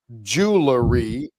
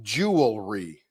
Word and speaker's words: jewelry: word jewelry last night spelled most people say Jewelery but here in the US it's jewelry j e w l r y yeah but